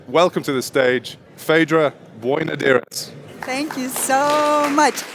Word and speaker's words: Boinodiris: to the stage Phaedra boy nadiris thank you so part Greek not just Irish because he pronounced it so well thank you Aiden uh